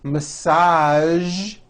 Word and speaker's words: massage: casual television very good now there are only a few words that have the voiced sound at the end a few of these words are the color beige the word massage and the word prestige Shh okay now that